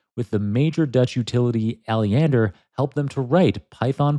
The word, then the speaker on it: Alliander: I'm probably butchering the pronunciation of that. Yeah, Alliander.